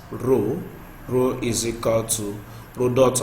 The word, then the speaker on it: rho: So we have also that the symbol we have for this is pronounced as rho.